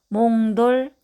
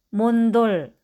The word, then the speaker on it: 몽돌: 이응과 디귿이 만나면 몽돌, 앵두. 이응과 비읍이 만나면 왕비, 흥부. 미음과 디귿이 만나면 검도, 침대. 인데 말을 배우고 있는 아기나 발음에 서투른 사람이 간혹 몬돌, 앤두, 완비, 흠부, 건도, 침대처럼 소리 낼 때가 있습니다. 뒤 첫 소리를 너무 일찍 준비해서 그렇답니다.